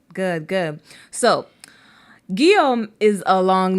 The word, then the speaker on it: Guillaume: Guillaume. That's actually how you pronounce it. Guillaume.